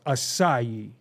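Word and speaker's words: açaí: get the s from look how it's spelled and then we universally as a people are like no it's pronounced assai how what what what's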